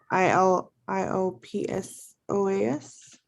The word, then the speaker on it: iliopsoas: ilio i don't know i l i o p s o a s yep iliopsoas the p is your slaughter oh okay okay so